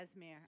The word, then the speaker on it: Aasimar: Aasimar, right? Pally? Yeah, Aasimar.